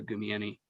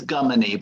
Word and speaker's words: Gumieni: It's Gummini, but that's close. That was pretty close. Gummini. That's way easier. I was trying to Gum add like a Jew, knee like a bend.